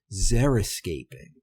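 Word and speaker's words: xeriscaping: One approach involved zeroscaping. I'd never heard this word before. It's spelled x e r i s c a p i n g.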